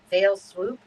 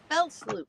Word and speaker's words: fell swoop: Is it one fail swoop? I think Yep. it is. All right. Fell swoop. Fell swoop, but it's spelled F-E-L-L, right?